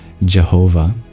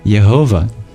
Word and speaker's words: Jehovah: the Bible where where God reveals himself as Jehovah but this is really a mispronunciation of yehovah and yehovah actually